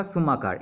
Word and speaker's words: Schumacher: इसका प्रोनाउंसिएशन होगा सुमाकार, SCHUMACHER 1974।